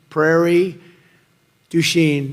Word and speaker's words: Prairie du Chien: get worse actually so we're here today in Prairie duen is that a good yeah good pronunciation you could have given me a little